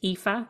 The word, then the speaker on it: Aoife: spell my name name it's spelled a o i f e and it's pronounced epha and my surname is